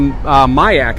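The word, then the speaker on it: MIAC: And the Mayak, I believe, is the correct pronunciation of this one.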